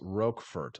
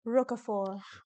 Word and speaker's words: Roquefort: Pronounced Roquefort. I thought it was Roquefort, but I feel like in France they'd be like Roquefort.